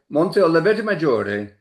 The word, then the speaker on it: Monte Oliveto Maggiore: If you want to ham it up, say Monte Oliveto Maggiore. A little, But I that's think just great. Monte Oliveto Maggiore is okay.